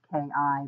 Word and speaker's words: Chi: Anyway, I'm also known as Kai, which is pronounced Ki, but I actually spell it Chi.